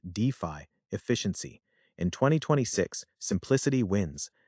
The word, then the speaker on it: DeFi: Developer migration is accelerating due to better DeFi, pronounced DeFi, efficiency.